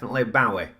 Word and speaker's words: Bowie: And it couldn't be Zoe Bowie, because it ain't spelt the same as Zoe is spelt. So there it is, that's cleared that up for you. It's definitely Bowie.